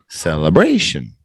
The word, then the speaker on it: celebration: Celebration.